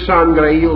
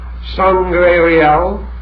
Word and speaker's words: Sangreal: And the word Sangreal itself has 2 possible pronunciations which are very interesting. Sangre Real, the blood of the king, and Sangreal, the holy cup.